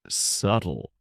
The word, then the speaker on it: subtle: We were talking about a novel and I mispronounced the word subtle. I said it with the B sound and a kind woman named Julia gently corrected me.